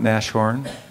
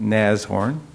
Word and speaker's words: Nashorn: sort of our unofficial logo Nassau it is pronounced as horn not Nash horn not Nass forn but neighs horn this is to pay homage to its ancestor